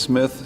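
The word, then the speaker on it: Cmith: Still pronounced Smith, C-M-I-T-H.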